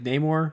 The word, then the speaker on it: Namor: about no more Namor how do you say it I say in the more no more okay people always said like name or I guess it name more is fine I he remember